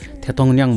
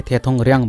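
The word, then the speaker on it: 대통령: खुङमुल भनेको जल पदार्थ थेथोङन्याङ भनेको राष्ट्रपति यसलाई हामीले थेथोङर्याङ भन्नु हुँदैन यसको उसै उच्चारण हो थेथोङन्याङ थेथोङन्याङ थेथोङन्याङ राष्ट्रपति फेरि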